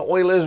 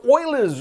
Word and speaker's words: Euler: and welcome today's urate video on solid and euler's ruled now the first thing is is that's not Euler please don't mispronounce his name is weird my surname has